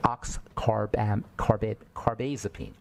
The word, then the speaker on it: Oxcarbazepine: They just went right into the oxcarbazepine.